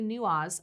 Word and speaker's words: Newaz: Newaz, Right.